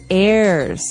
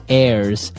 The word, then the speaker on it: heir: pod, and to his heirs. This is our next word. What is an heir? Now, if you notice, the h is silent there. So his heirs and that th those